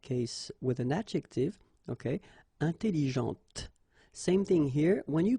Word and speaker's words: intelligente: Okay, intelligente. Same thing here. When you put this well, actually you will pronounce the final T, okay, but you don't pronounce this here.